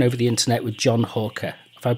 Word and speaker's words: Halker: And today I'm uh talking over the internet with John Hawker. If I pronounced your name right, John, I always check with everybody because I always You have indeed Rob.